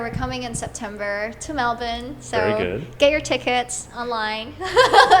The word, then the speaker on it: Melbourne: show but it's like Paco's um concert in Melbourne and uh I feel really lucky cuz every